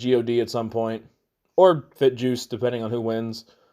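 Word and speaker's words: FinJuice: Which I recently learned it's pronounced Fin Juice. No, I'm not going to do that. It's going to be Fit Juice, and I will fight till my death about that. It is Fit Juice.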